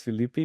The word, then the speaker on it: Philippe: Well, my name is Philippe. Philippi. Uh you can say Philippi like Mississippi manges.